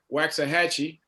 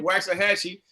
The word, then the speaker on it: Waxahachie: the life of me, I'm always going to pronounce it Waxahachie. Is that right, Blue? That's where I pronounce it. Okay, I'm going to call it that all the time, man. Waxahachie versus Cy Ridge.